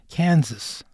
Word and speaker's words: Kansas: In Kansas, the last three letters are sas, but we don't pronounce them as sass. It's more like this, Kansas.